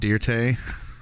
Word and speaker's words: Dirt: It's Dirte. It's pronounced Dirte.